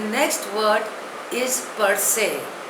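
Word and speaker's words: per se: newly acquired wealth रेकलेट the next word is परसे spelling is पी ई आर एस ई pronunciation is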